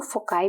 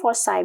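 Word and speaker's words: foci: द sun situated at वन ऑफ द 2 फोकाई भी कहते हैं इसको, फोसाई भी कहते हैं, दैट्स अप टू यू, आपने कौन सी प्रोनाउंसिएशन चूज करनी है।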